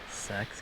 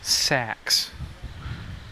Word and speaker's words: Sachs: one it's old yeah sex cutting bridge see it's an s told you no whoops i've been saying it wrong the whole time zach it's sax emphasis on sack in grateful recognition of